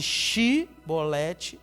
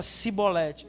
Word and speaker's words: Shibolete: Então, se falasse Shibolete, era de um jeito.